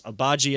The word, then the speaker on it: Agbaji: I will make sure I get the pronunciation right. I know it's Agbaji as his last name.